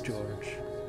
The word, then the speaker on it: Georges: George you didn't so apparently George is that that's pronounced as George the the S is silence my whole body froze